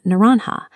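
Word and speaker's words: naranja: As early European languages absorbed this foreign commodity, they initially preserved that starting N sound. In Spain, for example, it became naranha.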